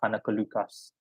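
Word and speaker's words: Anneke Lucas: born in Belgium and her name in Dutch is pronounced anakalucas um long story short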